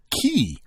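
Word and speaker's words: cay: k c a y pronounced as key yes is defined as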